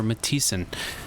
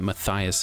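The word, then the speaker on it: Mathiisen: up with rumar near matisan I was calling it Mathias and I wasn't pronouncing that right but matis we're going to head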